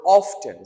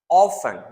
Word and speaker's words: often: Some people pronounce the word often. Some people pronounce it often. Both correct. Do not worry about it.